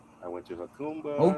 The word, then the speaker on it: Jacumba: I went to Hakumba. Okumba. That's how you say it. Hakumba.